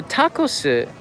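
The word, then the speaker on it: タコス: actually serve go home so tacos is how you say taco in japanese tacos rice is really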